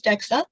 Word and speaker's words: DXA: screen for osteoporosis dexa so it's dxa pronounce dexa it's a bone densometry